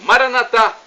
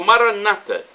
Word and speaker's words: Maranata: do aramaico Eu Clamo Maranata como dizemos nosso católicos o Maranata como dizem os protestantes não importa a pronúncia o significado é o